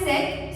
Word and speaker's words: cet: Third one is set. So the pronunciation of second and third will remain the same. It will be pronounced the same way. Set, set. Now, where do we use it?